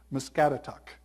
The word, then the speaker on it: Muscatatuck: Can you pronounce it for us? Muscatatuck.